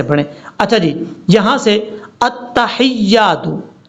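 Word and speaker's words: التحيات: جی، یہاں سے التحیات، حمزہ کو تا سے ملانا ہے، حمزہ تا زبر ات، تا زبر تا، اتا، ہا یا زر حی، یا الف زبر یا، حیا، التحیات التحیات، اس کو التحیات نہیں پڑھنا، التحیات للہ، یہ ہے اس لفظ کو پڑھنے کا طریقہ۔ اگر آپ کو پہلے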